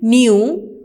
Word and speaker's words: knew: He knew के silent है, नो की सेकेंड फॉर्म है न्यू.